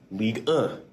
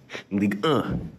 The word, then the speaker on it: Ligue 1: But the 1 is pronounced as So it's kind of funny, you know? Ligue 1. Ligue 1.